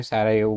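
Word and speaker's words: Sarajevo: तो बोस्निया हर्जिगोविना का कैपिटल है सारायेवो, ठीक है। ये प्रोनाउंसिएशन थोड़ा डिफरेंट है, सारायेवो बोलते हैं इसको।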